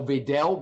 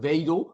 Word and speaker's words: Wedel: Just as you pronounce my name in Dutch, I also refuse to say Wedel, but Wedel, which is the correct pronunciation.